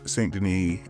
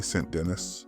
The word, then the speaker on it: St. Denis: There's a new episode of Saint Denis Medical, assuming this is, I'm pronouncing this in the French way, but it's probably Saint Denis since this is an American show.